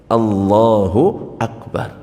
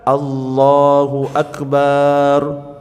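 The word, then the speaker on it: الله أكبر: Dan tidak memanjangkan huruf ba. Allahu akbar. Kadang-kadang di kampung-kampung ketika takbiran itu Allahu akbar, Allahu akbar. Salah. Allahu akbar, Allahu akbar. Harus sesuai bacanya itu.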